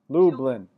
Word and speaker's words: Lublin: issue there right how do you say your last name lublin two syllables yay and you got